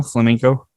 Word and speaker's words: flamenco: is flaming am i saying it right flamenco flamenco flamenco yeah thanks for not calling it flamingo